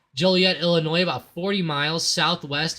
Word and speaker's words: Joliet: I guess you'd pronounce that Joliet. Joliet, Illinois, about 40 miles southwest of Chicago.